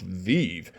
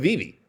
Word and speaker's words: VeVe: some people come down and tell me it's pronounced vive well guess what my wife joined okay my